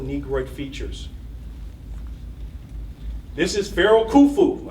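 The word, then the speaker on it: Khufu: This is feral kufu. I like kufu because his name rhymes with my name kulu.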